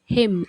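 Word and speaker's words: hymn: की गोलियां pills pills श्रद्धांजलि tribute tribute bhajan हिम एच आई एम हिम pronounce करना है हिम निजी तौर पर प्राइवेटली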